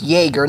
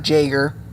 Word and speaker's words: Jaeger: stead of duel Jaeger turns out I pronounce Jaeger not Jagger thanks to a commenter on